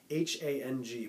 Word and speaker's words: hang: It's spelt like hang, like you're hanging out, like H-A-N-G, but it's pronounced hang, and it's from Asia.